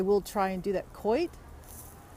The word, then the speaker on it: Coit: try and do that Coit coit is it quite coot what is that how you say it coot oh my god my long text let me text I know but how do you say it is it Coit i would assume it's Coit so guys this is